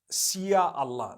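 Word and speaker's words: Insya Allah: language they write in Sia Allah the s-y-a they pronounce it they pronounce the s-y the way we pronounce s h so they can write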